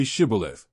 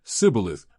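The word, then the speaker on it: shibboleth: replied no they said all right say shibilev if he said sibileth because he could not pronounce the word correctly They seized him and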